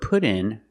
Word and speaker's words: put in: We use the phrasal verb put in for install. Pronunciation. The T in put sounds like a fast D. Put in.